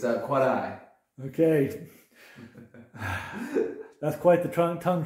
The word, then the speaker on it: Quarai: You can't roll your R's. Quarai is fine too. It's a Puebloan word that got sort of anglicized by the Spanish.